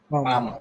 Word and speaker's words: palm: Palm. Palm. It is palm. You should not call palm. Which letter is silent? L. L. L is silent.